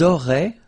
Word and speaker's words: auraient: Vous auriez, little link between the two, vous auriez, and then, ils auraient, little link, but then, look, A-I-E-N-T like that, and you only pronounce E, like we had here.